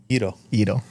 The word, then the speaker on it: gyro: it's how do you say gyro eido can you speak Greek?